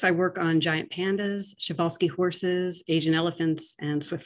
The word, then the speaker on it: Przewalski: The Przewalski horse is the last species of wild horse that's still living in the world. And it's pronounced a little differently than how it's spelled because it's a Polish name.